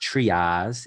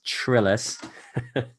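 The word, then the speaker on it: Pamela Trillas: You spell her last name Trillas, so it's not pronounced Triaz, it's Trillis.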